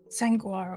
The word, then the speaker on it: Sanguaro: Sanguaro. How do you say that? How do you type that? S-A-N. Go ahead. Guaro. It is a combination of saguaro and San Pedro cactus. Sanguaro, okay.